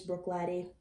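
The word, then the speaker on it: Bruichladdich: wouldn't mix that but i do love this brook latte now pronounced right that you all taught me so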